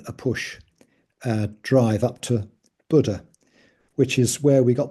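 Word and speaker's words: Bodø: So I call it Bodo again. I always forget that. It's pronounced Buddha.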